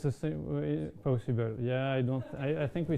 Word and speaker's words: PowSyBl: On a broad level, what do you see as the most important differences between also how do you pronounce it? PowSyBl? It's the same way, PowSyBl.